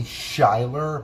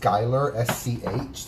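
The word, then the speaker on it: Schuyler: read the lyrics and they see shyler but it's pronounced skyler sch that's definitely a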